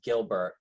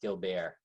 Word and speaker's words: Guilbert: We ask everyone to call us Gilbert, but the correct pronunciation is Guilbert.